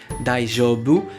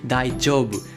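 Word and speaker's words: 大丈夫: Attention à la prononciation, ce n'est pas un J comme en français daijoubu, mais daijoubu. C'est comme si vous aviez un D et un J collés ensemble.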